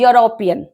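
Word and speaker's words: European: चाहिए सही तरीके से लेकिन नहीं इसकी साउंडिंग हमारी एक की नहीं आ आ रही है ना वाई की आ रही है यूरोपियन ही इज एन यूरोपियन और हिंदी में लेंगे तो य की साउंडिंग निकल रही है तो इसलिए हम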